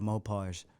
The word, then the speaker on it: Mopar: Mopars. I got. Look, my apologies. I forget what I said on the first video, but they're like, no, it's pronounced Mopar. You said And I was- Mopars.